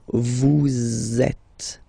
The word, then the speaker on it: vous êtes: So vous êtes, z, it goes like that.